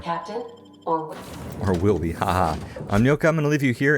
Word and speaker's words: Nyoka: And I'm sorry, I have to pronounce her name like Gnocchi, because even though it's spelled totally wrong, i.e. not with a G, but that just looks to me like that's how her name should be pronounced.